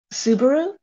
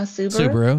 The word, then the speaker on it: Subaru: okay that makes sense it has it has like inflection on a different portion of the world word right so we're just saying it the way we read it and you guys put inflection on it is a Suzuki